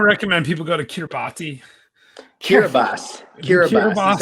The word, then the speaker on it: Kiribati: Kiribati is how it's actually pronounced.